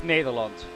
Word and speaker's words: Nederland: Actually, it's How do you say Netherlands? Because it doesn't have an S on it, right? In Dutch. No, it's Nederland.